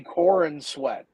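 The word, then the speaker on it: Corenswet: How do you say Corin sweat? Like the corn is sweating.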